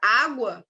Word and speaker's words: água: Por exemplo, se fosse a palavra água, que eu falei lá no primeiro encontro, não, esse GU de água não é um dígrafo, tá? Por quê? Porque a gente pronuncia o U. Água.